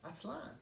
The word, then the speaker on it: Aztlan: Aztlan, accent on the last A, Aztlan, right?